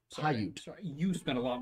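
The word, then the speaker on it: Paiute: Hayute. Pyute. Pyute.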